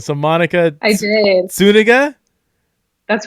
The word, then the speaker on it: Zuniga: want to say it's spelled Z-U-N. So, I mean, you want to say Zuniga, but Zuniga. How's that? That's right. All Pronounce with an right. S.